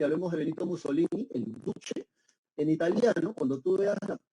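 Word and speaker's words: Duce: Guerra Mundial y hablemos de Vito Mussolini el Duche en italiano Cuando tú veas la letra c esa c se pronuncia como Che ent por eso se pronuncia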